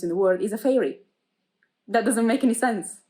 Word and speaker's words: Feyre: she literally tells us how to pronounce her name fair uh like that feyre obviously sounds like